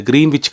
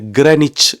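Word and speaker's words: Greenwich: இப்ப திடீரென்று இங்க வந்து அது கிரீன்விச் கிடையாது கிரனிச் என்னும்போது அதுல ரெண்டு எழுத்தை உச்சரிக்கவே கூடாதுன்னு சொல்லும்போது துன்பம் ஆரம்பிச்சது அப்படியே பார்த்தா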